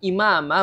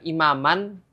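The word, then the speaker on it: إِمَامًا: kan harusnya bacanya imaman Kenapa dibaca imama ya Ini dibaca imama karena di sini ada wakaf ya karena di sini berhenti jadi ketika ada fathah tanwin dia berhenti pada wakaf huruf dengan fathah tanwin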